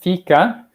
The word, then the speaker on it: fika: So it's pronounced fika.